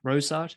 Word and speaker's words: Rorschach: How you pronounce it? Rorschach.